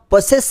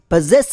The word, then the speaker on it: possess: ಎಸ್ ಇ ಎಸ್ ಎಸ್ ಈ ಪದವನ್ನು ತುಂಬಾ ಜನ ಪೊಸೆಸ್ ಅಂತ ಉಚ್ಚಾರಣೆ ಮಾಡ್ತಾರೆ ಪಿ ಆದ್ಮೇಲೆ ಲೆಟರ್ ಓ ಅನ್ನು ಓ ಶಬ್ದ ಬಳಸುತ್ತಾರೆ ಮತ್ತು ಲೆಟರ್ ಎಸ್ ಅನ್ನು ಸ ಶಬ್ದ ಬಳಸಿ ಪೊಸೆಸ್ ಅಂತ ಉಚ್ಚಾರಣೆ ಮಾಡ್ತಾರೆ ಬಟ್ ಇದು ತಪ್ಪು ಉಚ್ಚಾರಣೆ ಆಗುತ್ತೆ ಈ ಪದದ ಸರಿಯಾದ ಉಚ್ಚಾರಣೆ ಪೊಸೆಸ್ ಅಂತ ಬರುತ್ತೆ ಇದೊಂದು ಟೂ ಸಿಲಬಲ್ ವರ್ಡ್ ಸ್ಟ್ರೆಸ್ ಇರೋದು ಸೆಕೆಂಡ್ ಸಿಲಬಲ್ ನಲ್ಲಿ ಸೋ ಫಸ್ಟ್ ಸಿಲಬಲ್ ಅನ್ ಸ್ಟ್ರೆಸ್ ಆಗುತ್ತೆ ಪಿ ಆದ್ಮೇಲೆ ಲೆಟರ್ ಒನ್